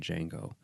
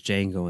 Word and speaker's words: Django: Foxx you know says Django and then spells a DJ a NGO and says the D is silent and then the guys like